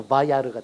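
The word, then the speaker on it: וַיַּרְא: 오고 그냥 그 다음에 쉐바 찍고 끝에 알렙은 그냥 묵음 처리해버리고 그래서 바야르가 됩니다.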